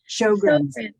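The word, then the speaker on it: Sjögren's: Yes, we have multiple sclerosis, lupus, rheumatoid arthritis, peripheral neuropathy, Sjogren's, I believe it is pronounced. Sjogren's. Thank you. So That's a challenging spelling. SJOR, I think it is GRENS, Sjogren's.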